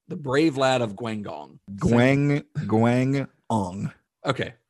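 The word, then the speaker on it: Guangdong: the brave lad of guangong okay that that second g is with the first syllable thank you todd yeah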